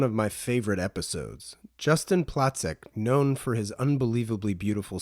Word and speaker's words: Placek: Is it Placek or Placek? Normally Placek because it's like a German. Pronouncing Placek would be the US The version of American version.